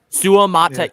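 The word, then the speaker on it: Suamataia: that Kingsley it is however you say ITA Su mat six syllables Kings Le Su mat I might have had that in my because it's you pronounce every every vow right every vow yep every vow I love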